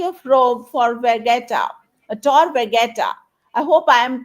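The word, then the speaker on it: Tor Vergata: at the University of Rome for vetta a Tor vetta I hope I am pronouncing the name of your univers correctly absolutely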